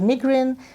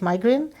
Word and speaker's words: migraine: a symptom called migraine some people pronounce it as migraine others say it's migraine so what exactly happens